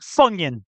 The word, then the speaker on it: Funyun: Look up the word Funyun. Onion, but with F in the beginning. I think that's how it's spelled. Funyun. Funyun. Oh, Funyun. That is not spelled like onion in the slightest, but right, yeah.